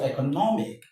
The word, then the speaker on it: economic: When you have the stress, when you have a word ending in MIC, TIC, SIC, the rule states that the syllable before the last one is what is stressed, right? So economic, or economic, remedial, economic.